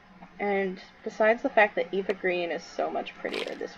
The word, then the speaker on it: Eva Green: Or not Eva Green, Eva Green. She pronounced it Ava.